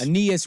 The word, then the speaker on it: Aeneas: Aeneas Williams.